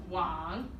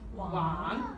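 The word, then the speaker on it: 网: And the Chinese word for net is pronounced wang. Wang. Yes, wang.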